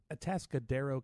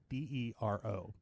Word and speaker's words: Atascadero: It was in Atascadero, California. I'm so proud of you for pronouncing that correctly because I couldn't do it. I'm not going to do it, actually. Atascadero.